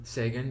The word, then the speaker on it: Sagan: Yeah, like on some Carl Sagan, or how do you pronounce his last name? Carl Sagan. Sagan, yeah.